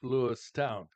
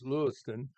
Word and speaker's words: Lewiston: Some people call it Lewistown. These are usually young people reporting on Channel 25 or 31. They'll say there was a shooting last night in Lewistown, but we have pronounced it as Lewiston for years and years.